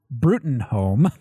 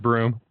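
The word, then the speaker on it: Bruttenholm: ancient monsters then a voice over by Dr brutin home not butthole pronounced broom Dr Broom he takes us back pronounced butthole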